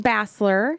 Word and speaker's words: Bassler: been affiliated with and responsible for so Jason Basler did I pronounce that right Jason you did incorrect so